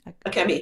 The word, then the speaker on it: Akemi: And in terms of your Japanese heritage, so I'm worried I'm going to mispronounce your sister's name. How do you say Akemi? Akemi, yeah.